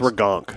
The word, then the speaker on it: Ragnarok: No, it's pronounced Ragnarok.